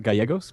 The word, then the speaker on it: Gallegos: Hi, it's pronounced Gallegos, but...